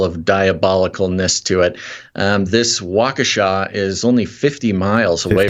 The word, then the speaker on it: Waukesha: I believe the pronunciation is Waukesha.